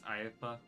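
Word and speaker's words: Iifa: I've always said LIFA, but I think it's IFA. Yeah, I was calling it LIFA for a while, but I guess IFA is the correct way to say it.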